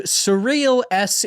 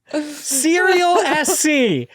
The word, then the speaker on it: Serial SC: So when he said that I mispronounced it, I was like, how else would you pronounce that word? It's cereal. You know, like I don't understand. And then he was like, I love that they were like, it sounded like you said surreal.